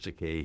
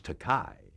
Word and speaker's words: Takei: uh Jean Roddenberry uh he called me George takai which is a mispronunciation uh of the EI in my surname but I told him